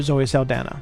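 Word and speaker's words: Zoe Saldaña: I know they more recently did a remake with Zoe Saldana, or Zoe Saldana, I believe is how you actually, I've heard her pronounce her name.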